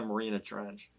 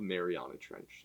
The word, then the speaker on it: Mariana Trench: the marina tread mariana marina trench yeah update how do you say it we we had a mishap last episode it's called mariana trench so yeah i didn't